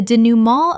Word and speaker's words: denouement: cacophony cacophony Word 144 denouement Common mispronunciation. denouement Correct pronunciation. denouement Three syllables with a nasal final syllable inherited from French. Example: The denouement of the novel was